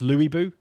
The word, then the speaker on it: Lu Bu: So I'm fighting Lu Bu now, which apparently is pronounced Louis Bu.